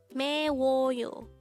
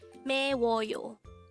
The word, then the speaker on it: 매워요: If you notice, the combination of the u and o character produced the wo sound.